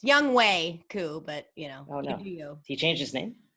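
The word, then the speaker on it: Younghoe Koo: Young Ho Koo. Oh, it's Young Wei Koo, but you know. Oh, no. You. He changed his name? No, it's just pronounced Wei.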